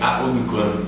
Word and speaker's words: Aonukun: On n'est pas sûr comment prononcer son nom de famille. C'est correct, c'est Aonukun. Aonukun.